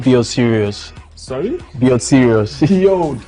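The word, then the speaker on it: Sirius: dog star is called serious so that's why I so how did you spell that s i r i u serious yes s i I thought it was like serious okay like someone serious no no no no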